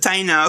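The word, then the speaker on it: Taíno: Oh, okay, that's how you pronounce it. Taino.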